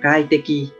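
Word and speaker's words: 快適: Và cách đọc của nó là kai te ki, kai te ki.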